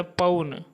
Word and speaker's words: पौन: पट्टिका, पाटी या पट्टी, पर्यक, पलंग, परीक्षा, परख, परपट, पापड़, पवन, पौन। यहाँ औ बोले पौन, पौन नहीं बोले पौन।